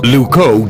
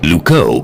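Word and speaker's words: Loucaux: wrong now what's wrong luco doesn't really rhyme with bordeaux it's spelled completely differently really luco is spelled l o u c a u x you can't write limericks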